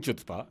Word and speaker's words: chutzpah: The C is not pronounced. No, it would be a lot more fun pronunciation with the CH being pronounced, but it's chutzpah.